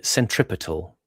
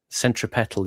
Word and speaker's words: centripetal: I was going to say Centripetal is putting the stress on the third syllable, whereas in English generally the custom is on the first. Centripetal, not centripetal.